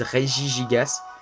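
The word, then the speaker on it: Regigigas: le groupe de riz alors vous prononcer comme vous voulez moi je dirais guy l'igas il ya des gens qui disent reggie gigas moi je suis là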